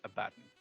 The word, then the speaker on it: Abaddon: I disagree. It's Abaddon. 1B, 2Ds, Abaddon.